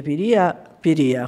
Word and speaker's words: Piria: soprattutto Piria, che abbiamo capito che si dice Piria con l'accento sulla I, perché ieri ci siamo telefonati